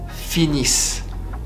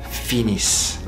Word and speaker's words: finissent: Ils, elles finissent. Ils, elles finissent. ENT at the end of ils, elles finissent is silent.